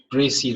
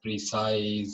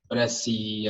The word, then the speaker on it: précis: And it is pronounced Précis writing. It's not precise or précis or something else. It is Précis writing.